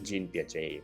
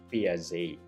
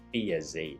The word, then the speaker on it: Piaget: Sa Philippines, we pronounce it as Jean Piaget. Pero sa since siya ay Swiss developmental psychologist, ang tamang pronunciation daw is Piaget. Piaget.